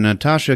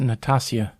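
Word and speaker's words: Nastassja: cat people starring Natasha Kinski it's pronounced Natasia whoa she gets naked a lot I heard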